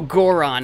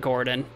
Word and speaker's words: Goron: Oh, Goron, not Gordon.